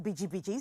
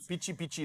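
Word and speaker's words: bici: So it's spelled B-I-C-I, and it's pronounced biji. So you were right. Not pichi like the South Africans. No, listen, yes, South Africans say, Keme bichi. No, Okay. it's biji. Biji, and not biggie.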